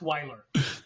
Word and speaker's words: Wheeler: people up but it's it looks like wheeler but it's pronounced Weiler right so I'll remember